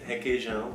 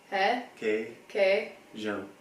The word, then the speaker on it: requeijão: The nasal sound is really hard for Americans because we don't have it.